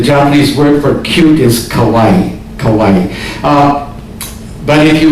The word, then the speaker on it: kawaii: is cute the Japanese word for cute is kawaii kawaii but if you mispronounce it did you say kawaii so your